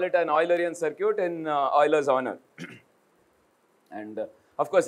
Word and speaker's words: Euler: So today we call it an Eulerian circuit in Euler's honor. And... of course, remember, it's Euler, okay?